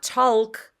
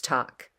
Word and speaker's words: talk: L in the word but it's not walk it's walk it's not talk it's talk it's not chalk it's chalk walk talk chalk so be on the lookout for silent l in a handful of words so that's everything you